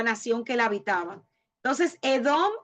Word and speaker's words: Edom: del Mar Muerto y se pronuncia como la palabra bíblica para rojo y por extensión usualmente